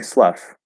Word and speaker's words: slough: um they definitely slough it would be pronounced like this well i guess if i'm keeping my own conventions slough um sloth with an ah instead of an uh also sounds okay to me but not as good um yeah i would pronounce it slough snakes slough their skin um but interestingly um